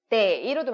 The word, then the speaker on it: 得: 그렇기 때문에 라고 읽을 때는 동사로 쓰여서 얻다, 획득하다지만 때이로도 많이 씁니다.